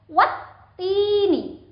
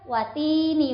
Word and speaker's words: Wattini: Sehingga huruf wawu itu langsung dihubungkan ke huruf ta-nya dan dengan ditekan. Wattini, bukan watini wazaitun, itu salah.